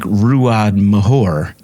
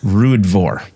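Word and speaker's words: Ruadh Mhor: It just, for our viewers too, it looks like Ruad Mahor, but it's RØDE Vor. That's Scots Gaelic.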